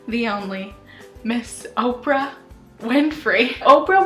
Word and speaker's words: Oprah: only miss Oprah Winfrey Oprah was born Orpah Gayle Winfrey most people would just simply pronounce her name wrong as Oprah so she just stuck with it now she's Oprah she